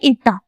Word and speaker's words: eta: इसको बोलते हैं ईटा। कुछ बच्चों को ये प्रोनाउंस करने नहीं आएगा। This is ईटा।